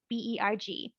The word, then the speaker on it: Spangenberg: And that would be Spangenberg. So Spangenberg. So Berg, Berg, is the word for mountain.